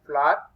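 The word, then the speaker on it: FLWOR: This will be pronounced as floor.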